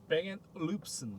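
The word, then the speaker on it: Bang & Olufsen: 원래 발음이? 뱅앤룹슨.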